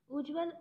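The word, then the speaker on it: उज्ज्वल: हमने नियम पढ़ा था यदि त और द के बाद च आए तो त किसम बदल जाएगा च में बदल जाएगा जैसा कि हमें दिख रहा है ये क्या है हलंत ये क्या होगा आधा च तो हो जाएगा हमारा उच्चारण उज्जवल उत् धन ज्वल त के बाद में क्या आ रहा है ज आ रहा है तो हमारा क्या हो जाएगा आधा ज तो हमारा बन जाएगा उज्जवल तो इसमें क्या है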